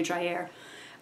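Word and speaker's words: Dreyer: I believe Carl Drier but I'm sure it's not pronounced Dryer. It's probably Driair.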